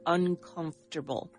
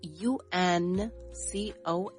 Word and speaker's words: uncomfortable: And the spelling is like this: UNCOMFORTABLE. Pero no se pronuncian todas las letras de esta palabra. Por ejemplo, no diríamos uncomfortable, sino más bien lo usual es pronunciarla de esta manera: uncomfortable, incómodo.